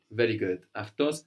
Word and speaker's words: αυτός: And we mentioned as well before that αυτή, αυτός is spelled with AU, and that this combination of AU, or the Greek letters that look like A and U, is giving us af.